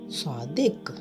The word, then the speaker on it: صادق: لفظ ہے صاد الف صا دال قاف دک، صادق۔ درست لفظ ہے رے ہے رہ میم تے